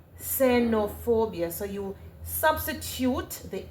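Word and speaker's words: xenofobia: It is pronounced with a S. Senopobia. Senopobia.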